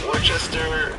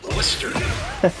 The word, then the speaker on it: Worcester: Glad Glenn, first we got to say it right. It's Worcester. Worcester. There you go. Massachusetts. Sorry. Springfield at one point. No. See, everybody everybody thinks it's like uh they they can't pronounce Worcers sauce either, but it's like Worcester sauce. So it's not Wararchchester or Wow.